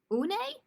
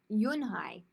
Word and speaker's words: Eun-hye: Une? The girl asked, scrunching up her face. Une, some kids chanted. No, Eun-hye corrected. It's spelled Eun-hye, Unhei. It's pronounced Yunhai.